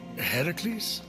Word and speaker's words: Heracles: That thing with your voice? Heracles? Yeah, that! That is how it's supposed to be pronounced.